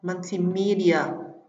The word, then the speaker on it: multimedia: Riêng phương án B, C và D trọng âm sẽ rơi vào âm tiết thứ ba: multimedia, curiosity và possibility.